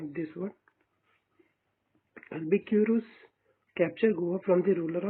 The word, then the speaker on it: Albuquerque: Albukiro capture Goa from Bijapur Sultanate. Sorry for mispronunciation of this word. Albuquerque capture Goa from the ruler of Bijapur.